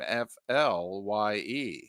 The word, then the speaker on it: Flye: And that's fly spelled like his last name, Flye.